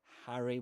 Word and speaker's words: Harry: Remember Harry with that a sound you'll hear in words like cat, Harry.